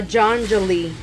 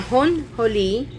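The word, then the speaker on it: ajonjolí: the way that sounds because a j is an h sound and um if you would pronounce it in english it's of course incorrect but it would sound like a janjali but um it's a hon holi and um makes me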